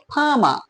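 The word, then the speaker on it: farmer: ফারমার ফারমার হলো না কেন ফামা দুটো আর আছে এখানে দেখো দুটো আরের কোন আরই উচ্চারণ হলো না কেন হলো না দেখো তৃতীয়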